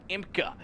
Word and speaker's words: IMCA: Okay, listen, IMCA, that's an American thing. Okay, you guys spell it out. You guys go letter by letter. But here in Canada, most of us, we just call it IMCA. IMCA, okay, that's how we do it.